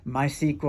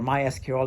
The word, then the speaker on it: MySQL: mentioned like SQL and my my sequel or MySQL depending on how you want to pronounce it Java and I think